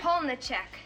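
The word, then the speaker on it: Polniaczek: It's Pichek.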